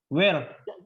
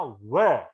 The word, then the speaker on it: were: bacanya bukan uh ya salah where bacanya bukan will Tapi bacanya weh weh waktu dibaca were pun